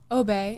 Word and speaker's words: Obey: Obey. It's French.